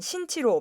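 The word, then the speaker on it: 辛奇: 이를 두고 한국문화체육관광부는 김치의 중국어 표기 용례를 신기, 중국어 발음으로는 신치로 바꿨습니다. 이는 중국어로 기나 김을 발음하는 소리가 없기 때문입니다. 새 개정안은 한국 시간 7월 22일부터 공공영어 외국어 번역 및 표기 지침에 따라 시행됩니다.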